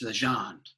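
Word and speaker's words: Legendre: up against lance legend legender legend is legend yeah he's french oh it is legend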